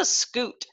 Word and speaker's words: scute: It has a pronunciation here that says, tells me how to say it. This is a scute. Scutes are bony plates that protect some animals.